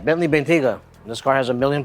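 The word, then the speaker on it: Bentayga: a help over here we have a Bentley bentega hey I said it right Bentley bentiga this car has a million problems and um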